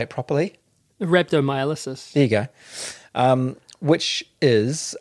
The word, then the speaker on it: rhabdomyolysis: Rhabdomyolysis.